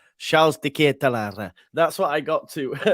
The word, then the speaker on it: Charles De Ketelaere: I remember my pronunciation. Charles De Ketelaere.